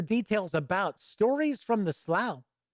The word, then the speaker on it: Slough: Here's the details about Stories from the Slough, or Slow. I'll say Slough. Sounds a little weirder.